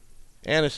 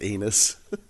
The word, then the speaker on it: anise: to try them vanilla it's not pronounced anus oh i know i